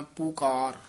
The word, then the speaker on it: पुकार: जी, पुकार इकट्ठा ही पाद उच्चारण करना है, पुकार वखरा नहीं कहना, दलैंकड़ नाल उच्चारण करना है पुकार।